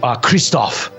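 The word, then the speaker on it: Krzysztof: that that works uh fantastic moving on to kristoff which just for clarity is spelled k-r-z-y-s-z-t-o-f awesome a-r-z-y z-y-s-z-t-o-f awesome um all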